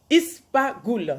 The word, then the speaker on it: ispaghul: Ispaghul, ça s'écrit I-S-P-A-G-H-U-L.